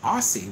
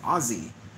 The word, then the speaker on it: Aussie: far that pronounce it aussie with s is americans it's a legitimate american pronunciation but most of the world just says ozzy like ozzy osbourne so yeah but yeah